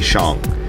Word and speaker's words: Shang-Chi: that it's shang like sean but with the g shong right and there's actually a